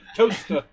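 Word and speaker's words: Towcester: I'm saying it wrong on purpose well um Toaster What leester c s is pronounced Topsy did grow up in in toaster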